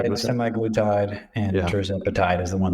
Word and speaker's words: semaglutide: I think I'm pronouncing that correctly. Yeah, Correct? semaglutide, and tirzepatide is the one that basically just